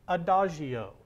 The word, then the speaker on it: adagio: our first word that we see here is pronounced adagio and up here on the board adagio means